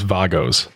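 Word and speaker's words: WAGO: what you're talking about what what are these Vagos so there's a connector company from Germany that's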